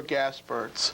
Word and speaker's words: Gaspirtz: show but our guest is the author Oliver gasperts Oliver I mispronounced your name welcome to Second To None